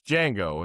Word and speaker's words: Django: And he goes, "Django." And then he goes, "The D is silent."